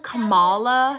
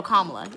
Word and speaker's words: Kamala: Now, and fun fact, um Camala Oh, Kamala Harris grew up here. Really? No. Kamla? Yeah. Yeah. That's how you say it.